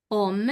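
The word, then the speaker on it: hommes: Om. La h no suena.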